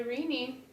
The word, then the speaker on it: Renee: We've come to New York, and we are at the Renee, or do we say Renee? We say Renee.